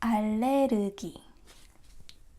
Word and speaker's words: 알레르기: Anyhow, allergy. Please don't pronounce this as ru, ru. It's r, r, subtle.